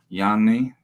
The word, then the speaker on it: Jani: Joining me today is Jani, if I pronounce that correctly.